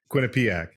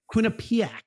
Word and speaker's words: Quinnipiac: You just put the wrong emphasis on the syllable. How do you say it? Quinnipiac. Quinnipiac.